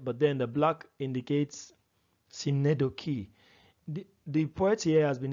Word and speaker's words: synecdoche: We tend to pronounce it synecdoche. Okay, we check a dictionary, the transcription has the k and then the e. So it's synecdoche, all right?